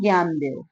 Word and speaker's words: ज्ञानदेव: देव न्यान देव ज्ञानदेव English में spelling इस तरह से लिखेंगे और पढ़ने के लिए हिंदी में सेम लिखेंगे सिर्फ पढ़ेंगे इसको ज्ञानदेव ये भी एक नाम